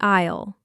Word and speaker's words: aisle: That is the aisle. And remember, the letter S is silent.